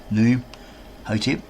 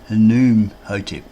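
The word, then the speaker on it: Khnumhotep: to say there, Hotep, because this K here is silent. So it's not Noom Hotep, it's like Noom Hotep, because the name Ham is often spelled Kham.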